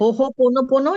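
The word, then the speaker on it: Hoʻoponopono: ओ हो पोोनो या हो पोोनो कैसा है एच ओ हो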